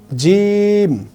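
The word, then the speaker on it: جيم: আসবে এটা হচ্ছে জিম জিমটাকে আমরা কিভাবে পড়বো এটাকে একটু শক্ত করে পড়তে হবে অর্থাৎ আমি যদি বলি জিম জিম যদি আমি একটু টান দিয়ে পড়ি তাহলে আমার জন্য শিখা খুবই সহজ হবে।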